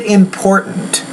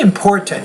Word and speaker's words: important: Why is it important? You can say important, don't get me wrong, but if you say important, you're using the glottal stop, and that's a more common sound in American English.